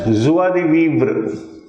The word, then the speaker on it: joie de vivre: This is pronounced as joie de vivre.